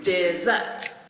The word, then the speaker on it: dessert: I can understand that dessert is a two-syllable word with the stress on the second syllable you can do it like this dessert and how about school